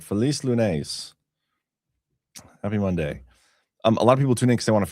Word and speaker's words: Feliz Lunes: All right, Feliz Lunes.